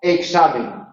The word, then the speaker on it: examen: La X representa a dos fonemas. Un fonema velar oclusivo sordo más un fonema alveolar fricativo sordo, KS, en la mayoría. La KS queda en posición implosiva.